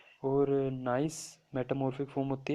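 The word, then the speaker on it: gneiss: Nice क्यों कहते हैं इसको, क्योंकि इसमें जी साइलेंट होता है, ठीक है।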